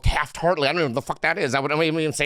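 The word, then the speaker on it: Taft-Hartley: right and then there's this mysterious thing called Taft heartly I don't know what the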